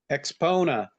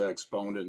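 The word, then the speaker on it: AXPONA: up oh okay yeah I'll look at that spell it for me again a x p o n expona yes okay I know I heard of that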